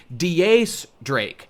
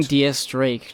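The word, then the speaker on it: X Drake: the number ten and is pronounced with Spanish pronunciation of the word 10 his name is D ace Drake how was that not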